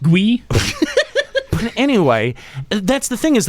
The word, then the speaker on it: Guy: Anyway, it's pronounced Gui.